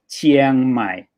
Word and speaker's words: Chiang Mai: being pronounced together and the chiang in chiang rai in chiang mai is one of these sounds and it's already in